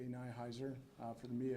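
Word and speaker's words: Nihiser: Nyhiser. For the media, Nyhiser, N-I-H-I-S-E-R.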